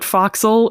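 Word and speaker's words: forecastle: you familiar with it do you know what foxel is an abbreviation of for Castle but that's Castle but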